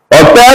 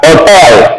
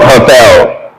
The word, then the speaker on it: hotel: Now, if you're pronouncing it, the H disappears. The H disappears. It becomes what? Hotel. So in Spanish, hotel is pronounced hotel, not hotel, right?